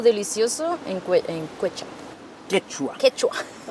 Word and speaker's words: Quechua: Quechua.